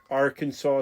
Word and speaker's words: Arkansas City: So you were born in Arkansas city. Is that how you pronounce that? Ar Kansas is how they say in Kansas.